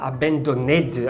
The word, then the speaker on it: abandoned: você um passado m&b a pronúncia nunca vai ser então você vai falar abandoned abandoned você não fala esse